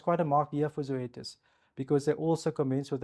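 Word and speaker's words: Zoetis: So this company we pronounce it Zoetas um is actually quite an interesting company.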